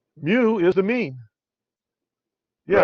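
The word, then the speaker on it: μ: Mu is the mean. Yeah, Right. that's mu. It's a Right. Greek lowercase m. It's pronounced mu. It looks like a U, but it's mu.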